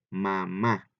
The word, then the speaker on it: mamá: Fíjate bien, son dos fonemas, son dos sílabas, ma y ma, ¿verdad? Pero veamos que en una de ellas lo decimos más fuerte, ¿verdad? Que es cuando terminamos, mamá, ¿verdad?